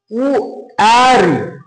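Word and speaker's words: wary: দেখো ডাব্লিউ এ আর ওয়াই, উ অ্যারি, উ অ্যারি, ওয়ারি হচ্ছে অনিশ্চয়তা, অনিশ্চয়তা। তাহলে আমরা ডাব্লিউ এ দিয়ে তিনটে কিন্তু উচ্চারণ পেলাম ইংরেজি ওয়ার্ডের এবং অর্থ দেখে নিলাম।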